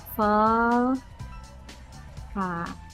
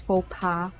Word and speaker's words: faux pas: Wait, I have to search how to pronounce that word. I can't. I have to know. Google. Faux pas.